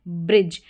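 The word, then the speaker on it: bridge: ब्रिज। डी जी ई इस तरीके से डी जी ई का कॉम्बिनेशन आ जाता है। इसको आप ज करके पढ़ेंगे ब्रिज क्योंकि यहां पर जो डी है वो साइलेंट है और एस एच जैसे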